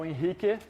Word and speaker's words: Henrique: my name is inik I am that's a Brazilian pronunciation of my name because I'm Brazilian um I have been